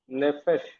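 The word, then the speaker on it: נפש: And then it is Pe without Dagesh. So how will you pronounce? Nefesh.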